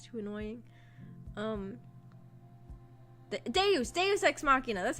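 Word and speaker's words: deus ex machina: toy probably if it's too annoying um de de exmachina that's how you say it I remembered I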